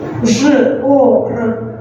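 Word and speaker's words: жор: Zh, O, R. Nice, once again, Zhor. And the last word, the stress is on the first syllable.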